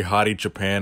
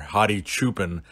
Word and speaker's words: Hadi Choopan: So we finally know which category Hadi Choopan is going to be competing in, or Hadi Choopan, as people prefer me to pronounce his name.